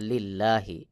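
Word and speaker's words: لله: আর এখানে দেখুন আল্লাহ শব্দের আগে লামে জের রয়েছে। তাহলে লি লাম লামের লিল্লাহি। এই লামকে পাতলা করে পড়তে হবে। যেমন লিল্লাহি। আমি যে লিল্লাহি বললাম এটাকেই বলা হয় বারিক বা পাতলা করে পড়া।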